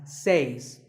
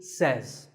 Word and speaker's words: says: is says this word is commonly mispronounced by people learning English as says but remember I say you say but he or she says number three is ETC